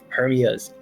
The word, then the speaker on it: Hermia: You have Hermia's eyes, her eyes. Not just any eyes, Hermia's eyes. And so that does kind of like when you stress both of them, because of course Hermia is 3 syllables, but it tells you